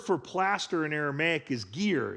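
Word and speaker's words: giyr: The word for plaster in Aramaic is gear. It's spelled gi y r in English.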